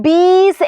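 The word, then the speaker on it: बीस: okay 20 ന് നമ്മൾ ബീസ് എന്നാണ് പറയുന്നത് എന്താണ് ബീസ് എന്നാണ് പറയുന്നത് ബ ഇട്ടുകൊടുത്തു ഈ എന്ന് പറയുന്നത് നമ്മുടെ ചിഹ്നം ഇട്ടു കൊടുത്തു സ ഇട്ടുകൊടുത്തു ബീസ് എന്നാണ് വായിക്കുന്നത് അല്ലെ എന്താണ് ബീസ് എന്നാണ്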